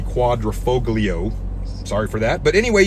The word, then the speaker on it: Quadrifoglio: the alfa romeo stelvio quadrafriclio it's not how it's pronounced but that's what i call it i believe it's actually the quadrifoglio sorry for that but